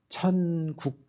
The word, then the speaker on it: 천국: 대한 설교 말씀이 있어요 13장은 발음을 정정확하게 하셔야 돼요 천국 장이에요 뭐라고 발했어요 제가 정확 하셔야 돼요 이응이 아니고 니은 니은 천국인데 어떤 분은 거기다면서 왕교